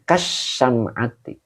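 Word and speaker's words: كالشمعة: Jadi kasyamati ini bacanya ya. Kasyamati. Jadi k-nya huruf jir. Asyam'ati majrur yang dijirkan dengan kasroh.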